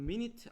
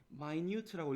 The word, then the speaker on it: minute: 자, minute는 이건 minute 아니에요. 우리가 분, 몇 시 몇 분 할 때 분으로 읽을 때는 minute가 맞는데 형용사로 읽을 때는 minute라고 읽어야 됩니다. 알겠죠?